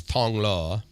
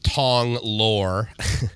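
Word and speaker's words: Thong Lo: yeah the mall so a lot of people would agree that it's Tong law when if you see it you'll pronounce it Tong lore yep that's what I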